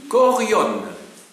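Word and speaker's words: chorion: des habitants, se dit Korion. C-H-O-R-I-O-N. Korion. Donc C-H-O-R-I-O-N. Korion. Alors, bon, ça se prononce, le CH se prononce que, parce que c'est la lettre qui en grec.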